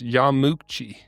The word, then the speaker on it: Yamauchi: So Nintendo was founded in 1889 in Kyoto, Japan by, as we said, Fusajiro I said it wrong before. It's Yamauchi.